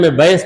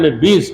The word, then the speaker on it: بیض: ایام بیض کے روزے۔ بعض لوگ ایام بیض پڑھتے ہیں اس کو، مگر صحیح تلفظ ہے ایام بیض کے روزے۔ اور بیض جو ہے